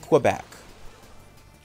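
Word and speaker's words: Québec: do you pronounce it again? Quebec.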